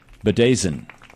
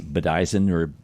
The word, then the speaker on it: bedizen: Bedazen. Bedazen. It's spelled Bedizen. You would think it would be Bedizen but it's Bedazen.